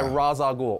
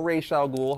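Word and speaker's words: Ra's al Ghul: they were created by raza ghoul or racial ghoul however you want to pronounce it he's one of the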